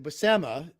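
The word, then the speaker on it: Buscema: with the um the basima thing the basema to pronounce it the way Stan Lee or funky Flashman pronounced it um you know what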